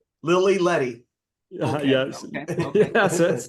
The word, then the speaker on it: Lili Ledy: Now, I just, for a little clarification, repronounce or re-say Lila Lili? I didn't understand what it was. It's Lili Ledy. Lily Letty.